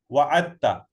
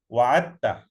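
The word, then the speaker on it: وعدتَ: Because we know already when dal and ta comes together, Arabs find it difficult to pronounce, so they omit. So they say wa'atta, like abatta, you promise.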